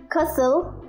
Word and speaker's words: castle: words with silent t t is silent in this world castle person orphan tissue prison christmas listen whistle wrestle hustle thank you very much